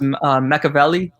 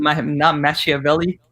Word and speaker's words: Machiavelli: It's pronounced Machiavelli, not Machiavelli.